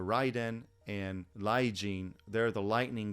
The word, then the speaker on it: Raiden: into the next one laiden or lijin yes L and R interchangeable in Japanese and they often will say it kind of with an l sound so lighten or Ryden and lijing they're the